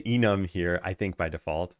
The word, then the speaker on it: enum: And I say enum here I think by default, but that's not how it's pronounced in enumeration. So some people say enume.